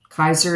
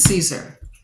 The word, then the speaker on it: Caesar: a classical Laden okay Kaiser is how you pronounce it correctly but it's Caesar someone's going to betray